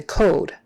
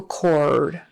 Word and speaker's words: cord: r and don't say code yeah don't say umbilical code umbilical cord on the or o r always get your R back there or or unconscious unconscious